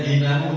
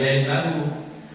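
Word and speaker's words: دينه: Bacanya dinahu, jangan dainahu. Kalau dainahu hutangnya, kalau dinahu agamanya. Jadi Arab itu bahaya Pak, berubah satu harokat, berubah makna.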